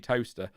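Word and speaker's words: Towcester: it's like uh toaster it's spelled toe sister but it is actually toaster we're cracking we're cracking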